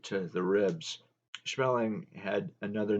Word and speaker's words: Schmeling: "Smellin'," Joe Louis called him, "smellin'." After each victory, Joe Louis told reporters, "I wish that had been smellin' in there." The pronunciation was off just a bit.